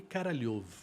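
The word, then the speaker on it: Королёв: que se chamava Sergei Karalyov. Claro que eu não podia Entendi. falar Karalyov. Em russo se escreve K-O-R-O-L-E-V. Mas em russo, o som, a letra O, quando ela não é tônica, ela vira A.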